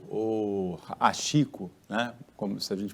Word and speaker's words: Hachiko: O pessoal do canil deu a ele o nome de Hachiko, ou Achico, né? Como se a gente pronunciar de acordo com as letras em português,